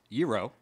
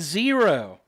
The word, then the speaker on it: gyro: That gyro has two main pronunciations. Euro. Euro and zero. So zero. Ain't none of y'all saying it right. No, euro is how most people say it. So I'm going to say zyro.